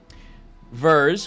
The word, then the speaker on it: Vers: Verz, which is power, V-E-R-S.